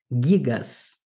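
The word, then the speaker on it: γίγας: Percebam, temos um acento agudo e eu estou dando ênfase maior à sílaba que recebe o acento. Gigas.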